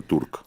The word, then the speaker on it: Türk: La la V en alemán se pronuncia como Volkswagen. Es folker. Folker Turk, no era Volkswagen.